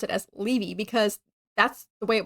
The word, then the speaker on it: Leevy: The narrator, Carolyn McCormick, said Levy. So I went back and I found the audiobook and I went to the chapter and she does say Levy.